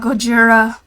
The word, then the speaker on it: Gojira: I know you say that to, like, mess up his name, but that's actually one of the ways to say his name. Yeah, it's how you say it in a Japanese accent.